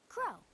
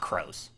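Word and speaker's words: Kros: can call me crow and a crow will work in a crow okay so it's not crows just Crow the S is silent good to know okay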